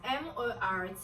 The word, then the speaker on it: mortgage: If you know that that word will go completely silent. If you want to spell it how it is pronounced, it could be something like M-O-R-G-A-G-E, mortgage. But they decided to complicate things by adding a T.